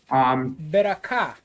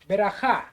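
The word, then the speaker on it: ברכה: The third one is ka. Actually, cha. Is ha. Right. Very good. And the pronunciation again? Beraka. Beracha.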